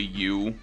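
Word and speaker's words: Yew: The main character whose name is literally you like uh like you the player, which is cute, but it's spelled like yeu.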